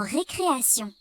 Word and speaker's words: récréation: Dans certains mots, la lettre T fait le son S. Comme dans récréation.